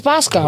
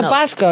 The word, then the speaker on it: Bosco: It's Bosco, right? Basco. Like the chocolate. Yeah, Bosco.